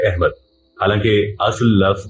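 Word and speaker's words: احمد: जैसे कि लफ्ज़ अहमद है, उर्दू में अलिफ के ज़ेर और मजहूल आवाज के साथ बोला जाता है अहमद, हालांकि असल लफ्ज़ जो है वो अहमद है।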